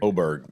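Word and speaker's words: Åberg: Is it Oberg? Oberg.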